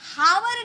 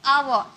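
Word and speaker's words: hour: हैं जब भी हम हावर नहीं बोलते इसे हम हावर नहीं बोलेंगे आव एच साइलेंट होता है एच चुप रहता है साइलेंट लटर वाले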